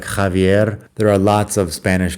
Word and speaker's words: Javier: I am well aware that the X at the beginning of that name should be pronounced like like Javier.